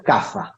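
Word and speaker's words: Kapha: que se denomina café se escribe capa con cabe kilo p h ah pero se pronuncia café café si los café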